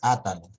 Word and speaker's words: Átalo: Acá sería pues atalo. Acá sí es átalo. Es el mismo. Atalo, pero sería como que tiene una tilde en la ta.